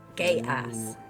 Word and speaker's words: Geas: It's spelled Geas. Gay ass.